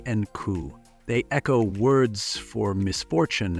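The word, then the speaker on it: 九: pronounced she and coup.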